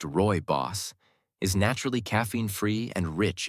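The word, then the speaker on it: rooibos: Originating from South Africa, Royos, pronounced Roy Boss, is naturally caffeine-free and rich in unique antioxidants that are not commonly found in other teas.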